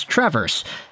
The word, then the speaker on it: Traverse City: that we had in traverse city yeah by the way guys i got it it's not traverse like the verb to walk backwards it's trevor's there you go i